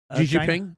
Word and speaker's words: Xi Jinping: Xi Jinping, yep.